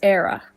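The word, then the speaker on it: Éire: And then Ireland in Irish is Era.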